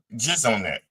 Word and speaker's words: Jeselnik: How did you pronounce that name? Jeselnik.